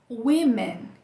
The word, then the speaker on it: women: A letra O, em palavras como women, a letra O faz som de E, né? Então, essa palavra aqui, gente, a gente pronuncia women, que é mulheres, né?